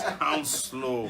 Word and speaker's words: Hounslow: And somebody corrected us when you know how we're trying to pronounce that Hounslow. Yeah, it says Hounslow.